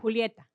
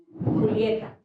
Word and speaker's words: Julieta: Julieta, how to say your first name again, please? Julieta. Julieta. Spell that. Julieta. Romeo and Juliet.